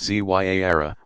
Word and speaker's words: Ziyara: Ziyara, pronounced Zyara, meaning visitation, is a form of minor pilgrimage still popular all over the world.